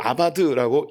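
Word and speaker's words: עבד: 경작이라는 것은 히브리어로 아바드라고 읽습니다.이 이 아바드는 크게 세 가지의 뜻을 갖고 있는데요.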